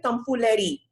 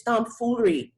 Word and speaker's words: tomfoolery: Okay, now this is one of those words where in English you see a letter that you don't have to pronounce. So don't tell me tomfoolery. It's tomfoolery, okay?